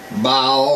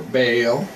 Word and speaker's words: Baal: they called baale I I'll say Bale because I think that's how you pronounce it B a a l bow or bail all right so whatever float